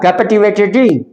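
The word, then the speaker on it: captivated: क पर दो मात्रा कैवेटेड टी पर छोटी की मात्रा प आधा आएगा कैप्टिवेटेड कैप्ट त हाफ है ये इस पर स्ट्रेस नहीं होगा हल्का स्ट्रेस डालेंगे कैप्टिवेटेड [नाक से की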